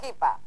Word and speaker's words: hippia: y su compañera la hipa. Recuerden, se escribe hippie e hippia, pero se pronuncia hippie y hipa. Se escribe hippie e hippia, se pronuncia hippie y hipa, o hippie y hipa.